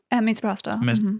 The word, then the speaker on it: misoprostol: was sent mifepristone and misoprostol. Is that how I pronounce it? Misoprostol. There we go.